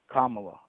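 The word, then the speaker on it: Kamala: What about how do you pronounce her name again? Kamla.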